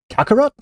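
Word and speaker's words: Calcharo: Kakarot oh okay so we all thought his name was called Kakarot before but apparently it looks like his name is actually supposed to be like written or pronounced C Karo or um kakaro yeah okay cool um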